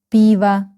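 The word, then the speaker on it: пиво: Piv again this O is not stress stress is on letter E. So we pronounce and read it like a biva piva.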